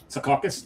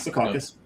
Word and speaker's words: Secaucus: And thank you for saying it right. Secaucus, not Secaucus, or Sea Carcass is another way it's pronounced.